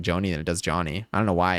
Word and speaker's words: Jony: Again, for clarity, I say my name is Johnny. Like Jony. It's a nickname anyway. It's all made up. Nothing matters. But when someone says like Joni, I'm like, okay, so